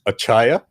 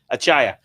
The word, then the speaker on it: Achaya: pretty much on your own how would you pronounce it it's achaya achaya okay that's easy achaya you know uh it's